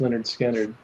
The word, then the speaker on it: Lynyrd Skynyrd: is Tuesday's Gone awful pronounced Leonard Skynyrd um uh it's classic